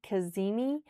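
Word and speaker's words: cazimi: And that word is spelled C A Z I M I Kazini.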